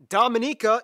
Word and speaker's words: Dominica: everyone wants a piece of djibouti stay tuned dominica yes that's how you pronounce it is coming up next all